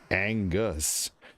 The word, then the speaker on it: Angus: I mean, you know, the Angus is in there twice, right? Ang is a G sound because you A-N-G, and then Gus. You have the hard G and the soft G in Angus.